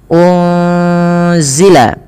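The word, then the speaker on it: أُنزِلَ: Pada lafal unzila ini ada nun sukun bertemu dengan huruf zai. Apabila ada nun sukun bertemu dengan huruf zai ini cara membacanya adalah nunnya disamarkan kepada huruf zai ya. Unzila unzila sembari ditahan dengan dua harakat bunyinya.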